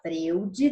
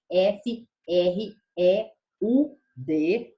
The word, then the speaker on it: Freud: ele se chama Freud se escreve Freud Tá mas não se fala Freud Tá bom toda vez que escrito f r e u d não Leiam FR tá é Freud é um psicólogo né